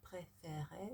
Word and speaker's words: préférée: So, quelle est la partie préférée?